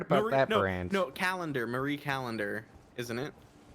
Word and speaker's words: Callender: I haven't heard about that brand no calendar Marie Callender isn't it not colander it's c-o-l no but I'm saying I I